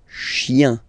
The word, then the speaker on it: chien: You don't pronounce this N, and it goes like yin, yin, yin, okay? So you combine the two, chien, chien, un chien, okay?